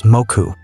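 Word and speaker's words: 木: For instance, the kanji for tree can be read as ki in some contexts, while in compound words, it may be pronounced as moku.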